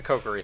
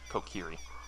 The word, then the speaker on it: Kokiri: It's a kokery thing. Kokiri. I'm gonna say kokery, nobody can stop me.